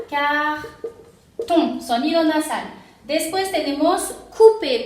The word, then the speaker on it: coupé: Después tenemos coupé, porque OU es U, entonces tenemos coupé. ER en fin de palabra se pronuncia E.